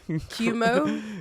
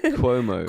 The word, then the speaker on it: Cuomo: show the Chris Chris chomo how do you pronounce his name cumo cumo cumin Cuomo Cuomo sorry let's show let's show the clip